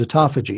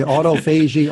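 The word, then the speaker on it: autophagy: to look at is a toughie G and that's a uto pH AG why I think we're pronouncing that right and we are burning we are pronouncing it correct yes some people say Otto Fei Jie Otto foggy but it's a commodity it's a toffee gene yes it took me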